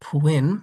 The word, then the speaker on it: Pwinn: Today I'm going to be trying Off-Balance Coloring by Pwinn, rhymes with Quinn.